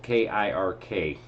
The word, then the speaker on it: Kirk: Anywh who, and by the way out there folks, it's uh uh my first name is spelled K I R K. is Kirk like Captain Kirk.